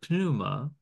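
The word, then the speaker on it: pneuma: and W and spirit in the Greek word puma pronounce the P Puma is also the word for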